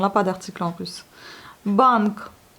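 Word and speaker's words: банк: Bank. Ça s'écrit et tout se prononce. Et puis, on a notre consonne un peu sourde à la fin.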